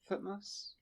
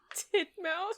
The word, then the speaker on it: Thutmose: Thutmose. Thutmose. Thank you. Titmouse.